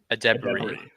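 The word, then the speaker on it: Edebiri: Io's last name is pronounced Adebari.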